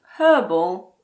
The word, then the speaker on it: herb: In American English, the H in the words herb and herbal also aren't pronounced. So in American English, these words are herb and herbal.